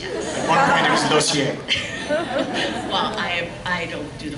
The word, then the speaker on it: Lausier: Well, my last name is Lausier, and it's pronounced Lozier. Okay. And I've been called Lazier, Lozier.